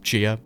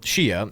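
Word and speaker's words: Xia: Chia is next, and it's spelled X-I-A, but I think it's pronounced Chia, so just bear with me.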